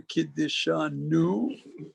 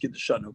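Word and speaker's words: קִדְּשָׁנוּ: nusach bracha is Asher Kiddishanu. That's not the way it's pronounced. It's pronounced Kiddishanu, but for the purpose of study, we'll put the emphasis on the wrong syllable.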